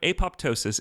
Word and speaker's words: apoptosis: in front of you the word apoptosis is most definitely pronounced with two audible peas and thank you Lewis